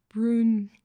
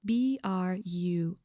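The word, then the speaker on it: Brünn: Apparently there was a siege in Brunn, if I'm pronouncing it correctly. It has umlaut, so Brunn, and the umlaut above the U, so there is a specific way to pronounce this word.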